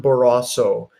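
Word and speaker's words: Barrasso: this morning on Fox News Sunday I I mispronounced his name I'm sorry it was John baraso John baraso from Wyoming this is what he to say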